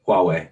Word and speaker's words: Huawei: that depend on them so you said it's pronounced huawei huawei yeah huawei so huawei uses these semiconductors to use thing